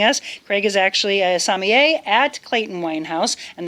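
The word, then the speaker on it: sommelier: Craig is joining us Craig is actually a samier at Clayton wine house and that is how you say it correct samier not Somali there's multiple pronunciations salier yeah definitely not that one somier how do you say what you are French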